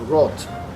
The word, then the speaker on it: Roth: So had he been German and discovered that, then the name would have been pronounced Roth.